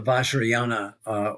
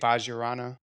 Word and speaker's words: Vajrayana: Well, yeah, it develops into tantric Buddhism called the Vajrayana or Sojun, which is a kind of tantric path in Tibetan Buddhism.